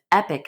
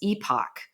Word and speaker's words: epoch: with us, because I would have thought of epic, as you say, as epoch.